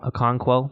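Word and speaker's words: Okonkwo: and Oak one quo a conquo yeah conqueror a conquo that's how you say it had one catch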